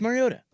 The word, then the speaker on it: Mariota: Why were they trying so hard to pronounce Mario? I don't know. It's Mariota.